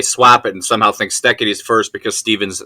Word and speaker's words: Steketee: It is pronounced Steketee, Steketee, Steve Steketee.